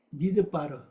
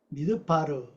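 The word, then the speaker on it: מדבר: 미드바르, 미드바르예요. 미드바르. 요거 듭이 듭. 미드바르, 미드바르 이렇게 발음합니다. 요거 원래 요거 따바르면 이게 원래 떼바르고 요건요 뭐야?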